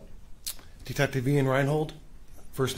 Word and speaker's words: Reinhold: Please keep your voice up, and if you would, please state your name and spell it. Detective Ian Reinhold.